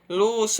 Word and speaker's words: luxo: Conheça algumas palavras onde o X tem som de CH, por exemplo, xícara, né? Shampoo, luxo, abacaxi, xarope, baixo, vai ter som de CH, mas se escreve com X, né?